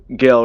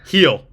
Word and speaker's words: Gil: Gill, right? That's how you say it. Heel.